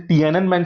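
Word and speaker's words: Tiananmen: तो टीनमैन टी, मतलब इसका प्रोनाउंसिएशन टियाननमेन स्क्वायर जो है वो बीजिंग में है।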